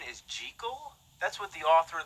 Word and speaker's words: Jekyll: off lately right you know that the proper pronunciation is jiggle that's what the author of the novel insisted